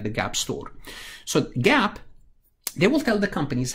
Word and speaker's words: GAAP: should follow in preparing financial statements is called gaap generally accepted accounting principle it's pronounced like the gaap store so gaap they will tell the companies how to measure